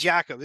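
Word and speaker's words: Jakob: name better than I so it's not Jacob it's I think it's I believe it's Jacob I think the Jay has a y yeah yeah yeah so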